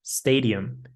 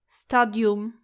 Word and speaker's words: stadium: Now our next word is stadium. Do not say it like stadium. It should be stadium. Stadium. There's no a sound.